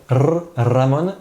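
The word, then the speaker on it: Ramón: s'appelle à la mode attention à bien prononcer le 1er qui roulent en espagnol ramon et non par allemagne puisque là c'est logis la jota qui racle la gorge etc ramon c'est le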